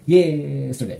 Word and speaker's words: yesterday: 그 다음에 어제 발음할 때 yesterday 예 더 길게 예 여기 여기 여기가 길어요. 그러니까 usually yesterday 이런 느낌으로 앞으로 많이 나오거든요.